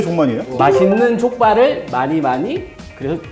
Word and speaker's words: 족만이: 이게 발음을 좀 조심해야 되는데. 어떤 건데? 이거는 순살 족발인데 이름은 종마니입니다. 카메라 나 꺼. 종만이. 종만이.